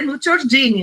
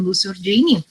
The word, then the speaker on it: Nuccio Ordine: então, assim, agora fico até encabulada de dizer Nuccio Ordine, né, porque depois da Melina, né, complica.